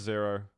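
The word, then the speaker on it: Xaero: That is Zero. Worf. X-A-E-R-O is Zero. Prepare to fight. Round begins in 3, 2. It's not pronounced Zyro, right? I've been pronouncing it Zero like my entire life, so.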